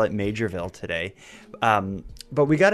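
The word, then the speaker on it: Maugerville: that it's spelled like maville but it's actually pronounced majorv I I'll give in and I'll call it majorv today um but we got an update regarding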